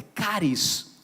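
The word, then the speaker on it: χάρις: a graça de Deus a graça do grego é cáries ou fechar isso como é algumas pessoas fala mais a pronúncia do grego correta é é cáries graça graça é favor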